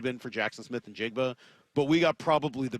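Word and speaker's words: Njigba: And we're going to hear a little bit about Jackson Smith and Jigba. And yes, that's how you pronounce his name.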